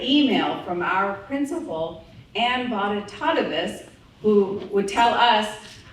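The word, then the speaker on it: Bonitatibus: from our principal an B Tois who would tell us you can remember my name because it rhymes with hippopotamus but don't call me that so you'll never forget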